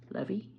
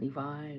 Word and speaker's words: Levy: like Dan and Eugene Levy he said how to pronounce it I've heard so I'm like I think it's Levy not Levi or something like that